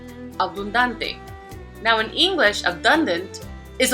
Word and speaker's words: abundante: And we see that this is a palabra llana because the prosodic accent is on the second to the last syllable. Abundante.